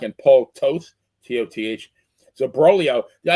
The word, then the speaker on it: Broglio: So Broglio, yeah, I think the best thing about Broglio is his name rhymes with Cornholio, but he went 7-19 with a Oh, 5.40 ERA for the wow.